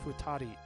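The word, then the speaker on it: 二人: 2 people is futari.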